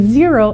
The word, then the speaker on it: Xero: to talk about is zero and zero is spelled x-e-r-o we do use zero